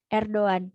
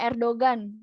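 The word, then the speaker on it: Erdoğan: benar adalah r22 bukan Erdogan er Doan karena itu yumasaki bukan G biasa dan Doan jadi pacar Ejip type-r Doan nama panjang beliau ya er Doan jadi Pak r2n besok-besok karena kita udah belajar nih musangnya hari ini jadi temen-temen jangan ada lagi yang menyebutnya Pak Erdogan Pak Erdogan salah ya teman-teman ya yang benar adalah erdo ane pake Doan corico video dikirim atau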